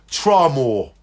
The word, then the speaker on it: Tramore: Let me spell it. It's called... They live in a place called Tramore.